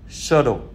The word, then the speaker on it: subtle: Và kế đến là từ bê câm thì có bốn từ: debt là món nợ, subtle là tinh tế và nhẹ nhàng, plumber là thợ sửa ống nước, climbing là leo trèo.